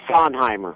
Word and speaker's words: Sondheimer: but maybe you can assist us on the pronunciation of your last name, please, sir. Yes, it's Sondheimer.